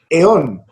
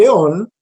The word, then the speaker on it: aión: kairos y dice keros, y eón, se escribe aión, ¿sí?